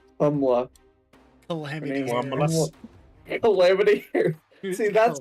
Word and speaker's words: Kamala: I always say Calamity or something like that. Kamala.